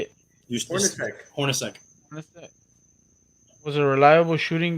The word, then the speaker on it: Hornacek: Hornacek.